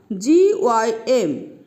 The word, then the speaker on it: gym: Next one, G-Y-M, Z, and here it is Y. So it sounds as Z. So it is gym, gym.